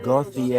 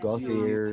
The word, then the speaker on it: Gauthier: it's spelled Gothic. it's Yeah. Gauthier. It That's looks saying like that. Gauthier.